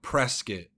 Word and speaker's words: Prescott: We all have cotton balls in our mouths because we have places like Prescuit, which is spelled Prescott.